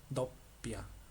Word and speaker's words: doppia: Okay, acá hay una doble P, entonces tienes que pronunciar la doble P. Dopia.